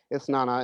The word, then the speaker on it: Isnana: I've recommended this one before by Greg Anderson Elise, a Haitian brother who does this story about Isnana, who he told me how to pronounce it, Isnana.